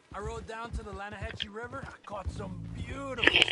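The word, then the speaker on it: Lannahechee: The other day, I rode down to the Lanahatchee River. I caught some beautiful steelhead trout. In the Lanahatchee River. No. The Lanahatchee. It runs right near here. Yeah, but it's pronounced Lanahatchee.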